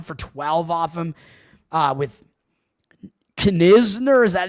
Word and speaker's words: Knizner: They're only 1 for 12 off him with Knizner. Is that how you pronounce his name? Not Noah Kaniga or what's the other? Nick Kurtz. It's Andrew Knizner.